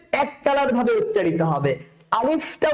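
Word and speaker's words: ألف: আলিফটা উচ্চারণ করার সময় ভিতর শেষের দিকে ফায়ের উচ্চারণটা যেন স্পষ্ট হয়। আলিফ, আলিফ, শুরুতে শক্ত আ লিফ, আ লিফ, আলিফ। আটা হবে শক্ত আর শেষেরটা হবে নরম, আলিফ।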